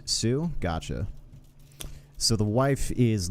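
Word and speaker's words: Sioux: I'm not even going to try to pronounce that. Dewacetan and it's Sue.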